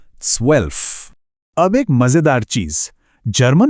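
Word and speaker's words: zwölf: स्वल्प। यहां भी वही वी वाला साउंड है। स्वेल्फ।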